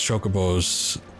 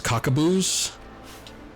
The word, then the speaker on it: chocobo: We had, God, I remember there was this kid, who would always pronounce chocobos as cockaboos.